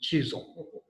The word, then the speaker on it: Chisholm: And I had to practice how to pronounce this last name, and Terry helped me, Chisholm.